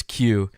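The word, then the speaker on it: 九: chance yeah crimbo the the Japanese pronunciation pronunciation of nine is Q so when zero over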